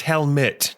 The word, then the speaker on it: Helmite: It's pronounced helmet, like this and thing.